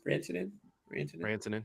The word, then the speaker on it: Rantanen: Rantanen, yep.